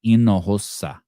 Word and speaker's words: Hinojosa: So maybe her name is Marissa Hinojosa and the J is an H. So Hinojosa.